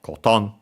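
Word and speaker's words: コトン: Notice again the accent on the second mora, so on the to, cotton, low, high, low again.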